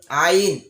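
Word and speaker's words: عين: আইন উচ্চারণ করার সময় হলকের মধ্যখান, অর্থাৎ হলক হচ্ছে গলা, আমরা যেটাকে সহজে বুঝি গলা। তো গলার মধ্যখান থেকে আইন আসবে, এই আইন হবে গলার মধ্যখান থেকে। আইন আইন আইন আইন।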